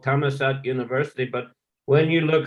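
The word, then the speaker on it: Thammasat: in Bangkok it's a law University it's called tamat University but when you look how it's written it says dharmashastra DH University but pronunciation is d d but but is dhra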